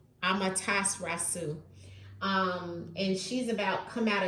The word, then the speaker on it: Amaterasu: Let me look at the pronunciation. Amaterasu. Amaterasu.